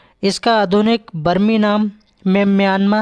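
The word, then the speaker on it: Myanmar: सी भाषा बर्मी भाषा बर्मी भाषा में रा का उच्चारण या किया जाता है अतः सही उच्चारण म्या है और इसका पुराना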